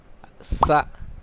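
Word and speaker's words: 四: کہ تین انگلیاں دکھائی جا رہی ہیں۔ اگلا S-I, Si, Si, Si; یہ اس کا تلفظ ہے۔ سی کا مطلب ہے چار، اور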